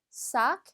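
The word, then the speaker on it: sac: 다음에는 가방 이라는 단어입니다 싹 쟤는 마지막 색까지 발음이 돼야 되죠 싸 가 아니라 수학 개까지 발음 해 주셔야 되구요 그 다음엔 향수 라는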